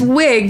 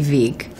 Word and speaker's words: Wiig: It's Wig, but technically Wig is Norwegian, and it would be Vig, but it's Wig.